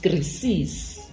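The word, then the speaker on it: κρίσις: Rayonyaka, the origin, yeah, the word crisis, as an English word, is a Greek word, which it's pronounced krisis, and then etwa from a verb ebijuan krino.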